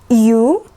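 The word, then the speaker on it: Ю: sound a in met U like Q or use yeah like the sound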